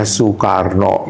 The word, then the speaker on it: Soekarno: Saya saya bilang enggak itu bacanya Soekarno mesti nulisnya su.